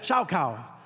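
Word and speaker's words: שָׁחָה: Oh yeah, shaukau.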